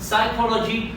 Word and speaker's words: psychology: psychology، أنه البي لا يلفظ، ما يصير أقول the psychology، لا، بل إنما أتلفظ كلمة psychology.